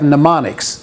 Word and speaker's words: mnemonic: have is we have mnemonics this is m n e m it's pronounced mnemonic so the first m is silent it's not menon minomonics it's mnemonics and what